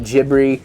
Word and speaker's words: Ghibli: we're saying ghibli not jibbery not ghibli um this is how we're used to saying it and of course the